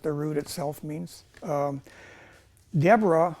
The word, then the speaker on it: Deborah: Um, Deborah or Devra in Hebrew, it's actually Devra.